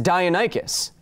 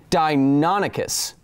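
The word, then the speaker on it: Deinonychus: from projectalkid who says you pronounce dionycus as dionycus it's supposed to be dinonicus all right well i've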